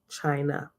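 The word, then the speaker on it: Chine'ya: it says chine yeah today is pronounced china right so here is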